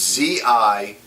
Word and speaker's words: Zinneke: I have no idea how to pronounce it. It's Zinneke.